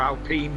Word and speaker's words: Alpine: not right now it's alpine into this year i'll pin alpine yeah yeah i'll point yeah yeah or alpene whichever way you want to pronounce it um yeah yeah don't